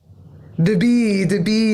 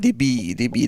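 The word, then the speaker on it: d'bi: The B. The B. Just want to make sure I have the right pronunciation.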